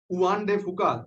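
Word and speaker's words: Juan de Fuca: जो ये प्लेट बार बार जो है जिसका जिक्र आता रहता है, बहुत इसका नाम आता है, उआन डे फुका, जे साइलेंट टाइप का होता है।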